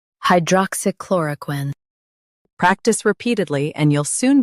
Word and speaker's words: hydroxychloroquine: Focus on chlor and keep quin light. Hydroxychloroquine. Hydroxychloroquine.